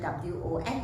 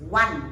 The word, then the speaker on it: won: Actually, the real pronunciation W-O-N is one. 1, 2, 3, that one. But because we are using English over here as the second language, so normally we say won, so that students can,